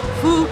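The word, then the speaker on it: Phước: My name is Phuc. P-H-U-O-C. That is my name. P-H-U-O-C. Or just call me. No, because some of the reason when you pronounce it wrong, it's bad thing, right?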